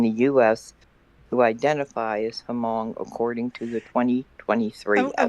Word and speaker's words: Hmong: who identify as Hmong, according to the 2023 I'm going to estimate. just. The H is silent. It's just Hmong.